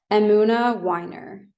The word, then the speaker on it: Emunah Winer: your last name oh very good question question amuna Wier okay amuna Wier and people I've heard people mispronounce the the name of your Agency for